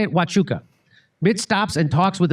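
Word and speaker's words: Huachuca: Wuka, that's how you say it. Wuka.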